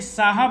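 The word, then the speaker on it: sahib: एंड और ask miss, कहा चाय, यहाँ पे साहब है, एच साइलेंट है, चाय साहब।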